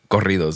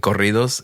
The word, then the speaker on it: corridos: So it's funny because I there's this stuff in like Spanish music called corridos, and it's like this. How do you say that? Corridos.